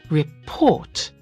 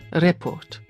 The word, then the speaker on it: report: Notice the pronunciation of that word. We say report, not report. Report.